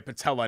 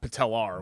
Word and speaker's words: patella: I said it originally this is the correct way patella not patelar which is what you